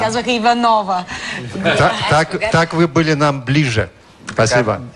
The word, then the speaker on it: Иванова: благодаря мго болье спасибо много често са ме питали къде е ударението на името ми на и всички ме наричаха иванова като са мислили че иванова звучи на български по български така ли а да а всъщност на руски е иванова а на всички ме